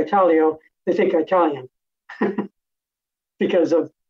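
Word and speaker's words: Italio: know people think when I when I say Italo they think Italian because of the pronunciation of of the word but um it's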